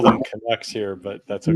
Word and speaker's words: Canucks: We call them Canucks here, but that's okay. Canucks?